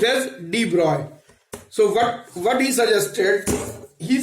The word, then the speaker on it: de Broglie: Actually, in 1924, there was a great physicist, that is de Broglie, and pronounced as de Broglie. This de Broglie is pronounced as de Broglie.